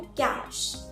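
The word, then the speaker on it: cache: इसका correct pronunciation होता है कैश। क्या होता है? कैश। ठीक है, वो पैसे वाला है ना, बट प्रोनाउंसिएशन सेम है, बाकी तो कुछ भी सिमिलैरिटी नहीं है।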